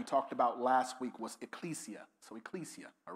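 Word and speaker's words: ekklesia: I'll spell it again. E-K-K-L-E-S-I-A. All right? L-E-S-I-A. Ecclesia. Ecclesia.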